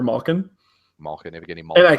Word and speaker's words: Malkin: bad one where he'll say Melkin for Malkin. Malkin, Evgeny And Malkin. I can't make him stop because I'm like, Dad, it's Evgeny Malkin.